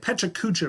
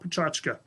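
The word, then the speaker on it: Pecha Kucha: Some of you might say, it looks like Pechakucha, Mr. Gallion, not Pachachka. Totally get it, but this is actually a Japanese word, and Pachachka is the closest way to pronounce it to English.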